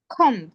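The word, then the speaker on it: comb: খম খম মানে বি থাকে তাই না এবং এটা হচ্ছে most of the Bengali people এ ধরনের মিস্টেক করে যে শেষের বিটাকে পড়ে হ্যা এটা বি এর হচ্ছে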